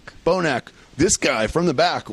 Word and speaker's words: Bonac: Bonac.